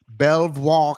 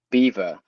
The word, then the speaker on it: Belvoir: now perhaps running around let's see if I can get this right Belvoir Castle no B NOP no NOP all right well good time for me to learn go ahead beaver As in the animal Beaver Castle get out of here